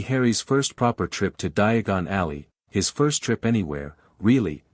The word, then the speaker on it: Diagon Alley: It's Diagon Alley, not diagonally.